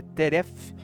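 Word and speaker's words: טרף: A palavra teref, né? Se lê pronuncia teref, significa comida fresca, provisão diária.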